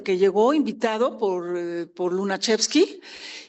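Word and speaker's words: Lunacharski: Rivera fue invitado por Lunachevski, así se pronuncia bien difícil.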